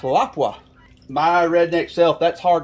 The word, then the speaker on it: Lapua: told me that that is supposed to be pronounced Lapua. My redneck self, that's hard to say. All of the Lapua purists out there, y'all don't be offended by the fact that I pronounce these Lapua, because it looks like Lapua to me.